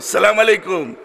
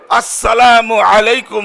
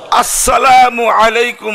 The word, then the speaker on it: আসসালামু আলাইকুম: সালাম, আসসালামু আলাইকুম, সালাম আলাইকুম, এগুলি কোনো সালামই না। সালামের উচ্চারণ সহিভাবে এইভাবে সালামের সালাম দিতে হয়, আসসালামু আলাইকুম রাহমাতুল্লাহ, বলেন তো আসসালামু আলাইকুম রাহমাতুল্লাহ। সালামের শুরু হামজা, এটাকে স্পষ্টভাবে আদায় করতে হবে।